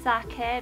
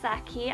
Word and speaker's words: sake: apple interesting socket and please pronounce it sake not sake I don't know who pronounces it sake but I do not like you cause it irritates me rum and raisin picking